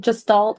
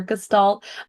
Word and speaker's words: gestalt: And actually, I just want to start by saying it's okay if you pronounce it gestalt or gestalt.